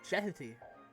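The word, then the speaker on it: Djehuty: However, his actual Egyptian pronunciation name is Jeheti.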